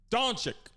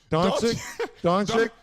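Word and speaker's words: Dončić: Brent, you want to pronounce his last name for us since you're in Texas? Doncic. Not to be confused with Doncic. No, Doncic.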